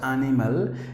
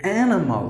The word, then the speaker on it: animal: Not animal, it should be animal. Look at my mouth. Animal. Animal, animal. Look at the difference. The right way to say is animal.